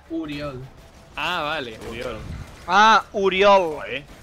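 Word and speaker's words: Oriol: O-R-I-O-L. Pero se pronuncia Furiol.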